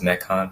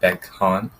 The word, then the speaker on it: Mekhan: My name is Mekhan, not Bekhan.